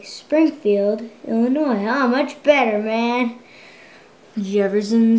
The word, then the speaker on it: Illinois: It ends with an S, but don't say it, boy, when mentioning Springfield, Illinois. The yes is silent, man. I'm sorry. I meant to say Springfield, Illinois.